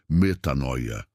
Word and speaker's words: metanoia: A Bíblia tem um conceito poderoso para isso, uma palavra grega fundamental, a palavra é metanoia, que se pronuncia metanoia.